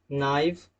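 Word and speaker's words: knife: K is not pronounced when it comes before N at the beginning of a word।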